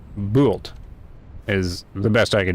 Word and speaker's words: Bult: Oh, and this game is supposed to be pronounced um Bolt. Bolt is my understanding.